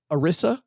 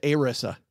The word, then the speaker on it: ERISA: Retirement Income Security Act, which they call it ERISA or ERISA, Doug. ERISA. That means we're going to pronounce it ERISA then.